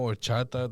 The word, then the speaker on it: horchata: For those who don't know, Horchata, the first letter is an H. Just letting you know. The H is silent.